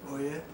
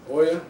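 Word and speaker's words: Ouya: How do you pronounce that? Oya. Oya.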